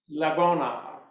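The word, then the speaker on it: לבונה: So it is pronounced labona.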